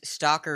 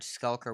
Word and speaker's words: Skulker: it for me yes it's stalker is a common mispronunciation but it's dark iron skulker which is a card